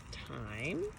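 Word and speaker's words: thyme: this here is called time so not like times that we keep track of every day as what time it is but time which is spelled t H Y and E so that's the name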